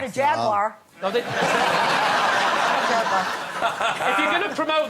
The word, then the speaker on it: Jaguar: no not a jaguar jagar if you're going to promote them at least learn to say it properly how am I saying Jaguar three syllables over here yeah you say you're